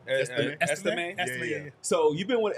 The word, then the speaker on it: Estime: Estime.